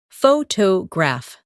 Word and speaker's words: photograph: Some words are pronounced with extra emphasis on one part. For example, photograph, photographer, and photographic. The stress moves and that changes the sound.